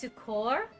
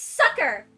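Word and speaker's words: succor: hardship and distress okay she said it wrong it's too core sucker okay wait I looked it up sucker sucker you heard that right it's sucker sucker that's weird if you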